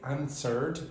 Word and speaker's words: answered: In the second word, it's answered. Don't pronounce the W, and you must not pronounce the H in honestly.